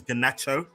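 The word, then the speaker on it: Garnacho: His name is Ganacho.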